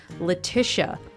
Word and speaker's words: Letitia: right on her website Letisha Tish rhymes with wish uh not assuming that